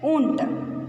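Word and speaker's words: ऊँट: How to pronounce this? I said no. O U in it. Unt.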